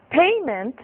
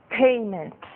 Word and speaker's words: payment: Em inglês, payment que é parecido, tem a sua sílaba forte um ponto antes, né? Digamos assim, uma sílaba antes. Então, eu tenho pagamento e payment.